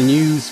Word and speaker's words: Neues: We've just finished in the News Museum, I think that's how you pronounce it, News, N-E-U-S.